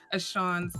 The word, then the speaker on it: Ashon: I said it wrong before, and now it's like Ashon's book.